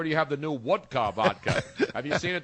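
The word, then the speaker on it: Wodka: you have the new woodka vodka have you seen it there's a new vodka called woodka no it's spelled w o d Ka so that you can sound like you're Russian or that you are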